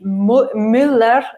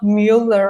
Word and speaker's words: Müller: That is really hard for you guys to pronounce because when you have a U with the dots on top of it, you say Müller, not Müller or something like that.